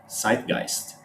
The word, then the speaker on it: zeitgeist: no it's not so if i tell you that the word comes from the german and it has an s sound either at the beginning or at the end you guys can guess that it it's actually spelled with the z z e z-e-z-e-i-t-g-e-i-s-t zeitgeist okay it's not zeitgeist now if you guys